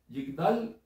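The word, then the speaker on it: יגדל: Yigdal se escribe con una Yod, una Gimel, una Dalet y una Lamed. Es Yigdal. La traducción sería Y y latina G-D-A-L, Yigdal.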